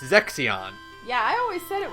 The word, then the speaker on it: Zexion: is not Zeshin, like I thought. It's Zexion.